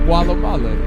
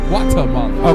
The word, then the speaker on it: Guatemala: Did I say it right? No, you did not. That is not Gualamala. It is Guatemala.